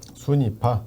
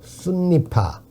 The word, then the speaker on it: 순니파: 얘들이 이른바 사실 우리가 어떻게 따지면 뭐 시아파, 순위파. 순니파, 예. 순니라고 발음하면 더 정확한데 이거의 대립이 극단적인 줄 알고 있는데 얘들 파의 대립이 극단적인 건 옛날이고 요즘 얘들끼리 같이 어울리고 살고 그래요.